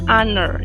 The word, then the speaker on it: honor: Ini cara bacanya honor, yang artinya terhormat. Jadi H-nya kan tidak dibaca ya.